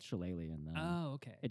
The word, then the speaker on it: Shillelagh: Okay, I'm gonna cast Shillelagh, or however you pronounce this. Shillelagh.